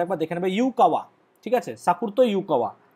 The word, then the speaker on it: Yukawa: দিয়েছিলেন বিজ্ঞানী, জাপানিজ বিজ্ঞানী ইউকাওয়া, সাকুরতো ইউকোয়া, YUKAWA, বানানটা একবার দেখে নেবে, ইউকাওয়া, ঠিক আছে?